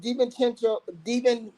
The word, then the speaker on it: DiVincenzo: So with McDaniels, Walker, DiVincenzo, how you say that? You call Chenzo, I think. Chenzo. I said it right.